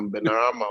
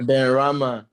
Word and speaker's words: Benrahma: If I pronounce his name wrong, now Benarama, what that they got out here. Benrahma.